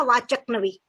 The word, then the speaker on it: वाचकनवी: Google मेरा नाम करेंगे, मेरे नाम की सही प्रोनाउंसिएशन है वाचकनवी, है ना।